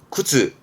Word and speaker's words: 靴: 세가 세가 군자 있던 거 그렇죠 이게 군함이 발음은 근가 근가 근데이 화자는 음독은요 정도고 대부분은 뭐 훈으로 보여집니다 뜻으로는 다 아시는 구즈 신발 구두가이 한자가 되겠습니다 굿즈 굿즈 그러면 이게